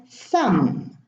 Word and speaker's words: thumb: So B after an M is silent in those words.